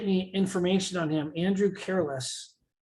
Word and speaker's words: Careless: Andrew Careless. He says Carlos. But it's CARELESS. Yeah, but it's spelled careless, but But I don't think he wants to have as an agent a person who cares less.